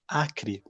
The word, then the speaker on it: Acre: country you will see a state called akri it's basically acre how it's spelled and that state there